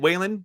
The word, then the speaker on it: Whalen: i mean i'm sorry sean whalen is how you say it waylon those of you who